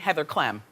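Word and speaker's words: Heather Clem: involving hulkk Hogan and Heather CLM which rhymes with Flem Heather CLM is the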